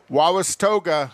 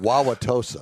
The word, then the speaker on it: Wauwatosa: and it was held around the village of wawas toga wawas tosa wisconsin wow i can't pronounce it wauwatosa wauwatosa like blah blah so and that was that